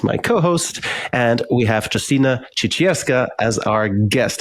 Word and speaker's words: Justyna Ciecierska: have Jolene as my co-host and we have Justina chicha as our guest how did I do on the pronunciation perfect you did there we go perfect